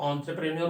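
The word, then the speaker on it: entrepreneur: correct pronunciation जो वो एंटरप्रेन्योर होता है, लेकिन इसको एंटरप्रेन्योर भी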